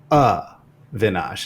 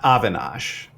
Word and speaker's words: Avinash: It's Avinash, not Avinash, and not Avi. But the only way to spell that out would be like UHVI. And even then, like, does that fully capture the sound?